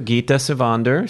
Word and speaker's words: Gitta Sivander: okay yo Hector Brad Kearns I'm talking to Geeta Sivan Durr starting out and Swedish how was that was my pronunciation of your name and my greeting in